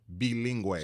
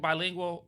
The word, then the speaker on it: Bilingue: bilingue. So all this time I've been calling it black and bilingual. Yeah, Black, Brown, and Bilingue. Bilingue is how you say bilingual in Spanish.